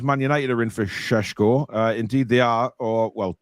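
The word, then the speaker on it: Šeško: Love it when Paul says Sheshko. Well, I have to say it right, or else I'll get wrong off Alex.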